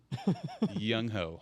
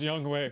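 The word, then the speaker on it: Younghoe: bass three young hoku young hoe it really is pronounced young way by the way young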